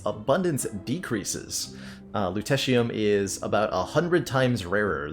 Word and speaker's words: lutetium: Lutetium. Excuse me, lutetium, because it's Lutetia would be the name of Paris then.